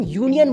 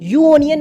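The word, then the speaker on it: union: एक वावेल है बट जब तुम यूनियन को प्रोनाउंस करते हो तो तुम यूनियन बोलते हो यू ओनियन नहीं बोलते हो यानी कि यहां पर भी तुम यूनियन बोल रहे हो वाई यू बोल रहे यानी कि यहां पे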